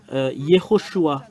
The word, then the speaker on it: Yehoshua: the son of noun le fils de noun Yehoshua vous voyez le nom Yehoshua et Josué qui